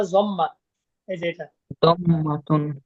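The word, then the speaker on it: ضمة: এই পেশকে বলা হয় জম্মাতুন। কি বলা হয়? জম্মাতুন বা জম্মা। এইযে এটা দম্মাতুন হ্যাঁ পেশকে বলা হয় জম্মা হ্যাঁ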